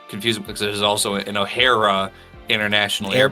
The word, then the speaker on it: Ohara: it could be maybe there's somebody from uh Ohana that was a uh Ohara, I'm going to Yeah, I'm going to say it wrong every time.